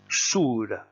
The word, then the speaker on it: sur: On prononce bien sur. Hein, le U se prononce bien OU.